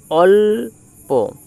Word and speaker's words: অল্প: উচ্চারিত হবে দেব উদাহরণটা অল প এক্ষেত্রে এই অ এর সাথে ল উচ্চারিত হবে। অর্থাৎ এই অ আর ল একসাথে উচ্চারিত হবে। অল আর প অল্প।